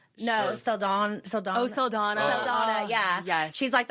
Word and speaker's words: Saldana: Zoe Chanel? No, Saldana.